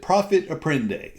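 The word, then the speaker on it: profit à prendre: Um it's my understanding that that's a French word and I don't speak French.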